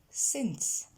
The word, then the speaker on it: since: On commence par la prononciation, elle est relativement simple, vous avez qu'une voyelle, c'est le son et dans since, et donc ce n'est pas un i. Since.